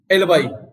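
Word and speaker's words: alibi: First word है दोस्तों एलबाई। हम इसको एलबी भी बोलते हैं, एलबाई भी बोलते हैं। इसका मतलब होता है निष्फलता का बहाना, मतलब कोई एक्सक्यूज देना, कोई बहाना बनाना। प्रोनाउंसिएशन का एलबाई रहेगा।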